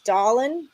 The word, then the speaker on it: Dahlin: long shot nhl future rasmus dahlin that's how you say it don't tell me it's